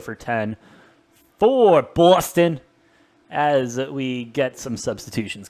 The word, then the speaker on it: Boston: AJ, I feel like I need to do my due diligence and help you with that accent there. It's like Boston. Boston? No. Cocky. B, like say it like it's spelled Bahsthahn.